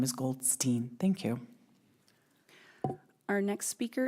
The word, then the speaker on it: Goldstein: I would like to correct you that the correct pronunciation of my name is Goldstein.